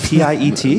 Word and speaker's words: Piet: Americans think he's called Piet. Really? Isn't it P-I-E-T? Yeah, it's P-I-E-T. No, most Americans are like P-I-E-T. It's Piet. No, it's like Pete.